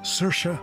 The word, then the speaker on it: Saoirse: So please, remember, it's Saoirse Ronan, not She Sells Seashells Ronan.